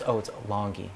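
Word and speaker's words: Langi: And then it's Longy. It's Longy. You say it Longy, but it's spelled Lange.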